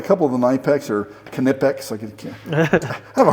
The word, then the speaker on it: Knipex: of the Knex are knipex I can I have a hard time seeing I know it's the proper way to say it but I still call it naex oh Aviation so back